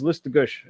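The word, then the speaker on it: Listuguj: Haven't really got the chance to play since JBL in Listagush shut down. I also love the fact that I knew how to pronounce Listagush.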